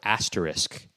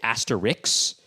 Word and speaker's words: asterisk: Oh, so the other thing I wanted to say is people often mispronounce the word asterisk, and that bugs me. They'll say asterix, and I'm just thinking, okay, there's no...